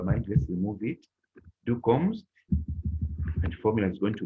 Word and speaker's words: kommst: Du kommst, and formula is going to be do equals to st at the end of that verb. Interesting. Interesting. That's it. Du kommst. Kommst. That's how pronounce kommst.